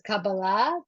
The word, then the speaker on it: Kabbalah: It's I say it the Hebrew way, which is Kabbalah, but Kabbalah.